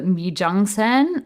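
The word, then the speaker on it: 미쟝센: Another one that was really popular was the Mijangsen, which is, that's how you pronounce it in Korean. It is a French word. I think it's pronounced similarly, like mise, mise en scène or something like that.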